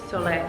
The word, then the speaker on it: Soleil: Soleil, that's how you pronounce it.